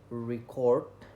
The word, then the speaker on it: record: And then for example, like the word record is pronounced differently when it's noun, like re and then core.